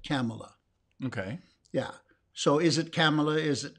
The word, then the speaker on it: Kamala: harris yes it's kamala camel like pamela but it's camella yeah yeah yeah now